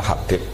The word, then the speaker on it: Habib: Itu di harokatnya kitab itu ada yang nulis Hubab. Tapi yang benar, oh enggak, yang benar itu bacanya Habib. Habib itu As-Sulami itu ikut marga Robi'ah.